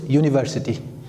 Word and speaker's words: university: However, when you pronounce this word, we pronounce it university. So the sound starts with the sound of U.